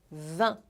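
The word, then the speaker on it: vingt: escrita meio na e o número 20 é super fácil de pronunciar é só você ignorar o g e o t do final e fazer som de hum tipo ah não entendi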